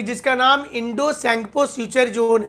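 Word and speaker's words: Tsangpo: अब उसका नाम लिख देना कि जिसका नाम इंडो सैंगपो फ्यूचर जोन है। इंडो सैंगपो का स्पेलिंग टी से शुरू होता है, सैंगपो फ्यूचर जोन ITSZ, जहां पर लगेगा कि धागा से सिलाई किया हुआ है दोनों चट्टान।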